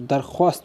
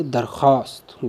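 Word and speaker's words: درخواست: मां दुर्गा कहते हैं जैसे पहली मिसाल देखो आप दरख्वास्त अगर मैं भावों को पढ़ हूं तो दरख्वास्त बनेगा लेकिन यह सही प्रवेश नहीं होगा इसका इसको हम पड़ेगी दरख्वास्त व्यास साइलेंट रहेगा जिन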